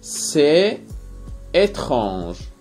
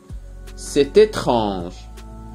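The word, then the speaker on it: c'est étrange: المصطلح التالي سي إتخانج، سي إتخانج، سي إتخانج. تلاحظون هنا النطق تي مع أو تنطق تي، لا نقول سي إتخانج، نقول سي إتخانج.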